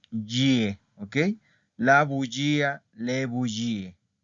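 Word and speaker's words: bugie: Porque dice la bullía, le bullie, bullie, ¿ok? Entonces aquí sí tiene que sonar la I.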